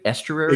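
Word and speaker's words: Esteury: and Duran is e Ruiz is it like EST Estuary exactly yeah the the Oakland like the bird sanctuary yeah yes that's every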